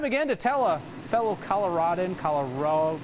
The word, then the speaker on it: Colorado: this state pronunciation debate Kelly says Colorado like avocado a fourth-generation Co native